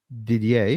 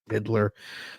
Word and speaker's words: Didier: is visited by Chef Didier did I say it right yeah keep still want to say diddler that's what it looks like on the screen and I'm not even